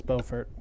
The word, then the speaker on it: Beaufort: I'm gonna mispronounce this horribly I believe it's Beaufort Beaufort oh okay I knew I had a 50-50 shot it's a few shorter Beaufort its Beaufort okay I would like to get one more